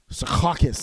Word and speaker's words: Secaucus: other others around me suffer as well okay Secaucus that's exactly as you should pronounce it like that because I'm the map if you like if you're on the train the train goes down rounding at Secaucus now that's way too tame they should really